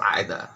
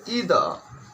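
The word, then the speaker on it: either: अगर British English होगा तो आइदर, और अमेरिकन होगा तो ईदर।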